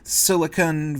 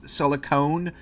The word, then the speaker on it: silicon: done so much for Silicon Valley. I say it wrong all the time. Half the time I say it as silicone, but it's silicon.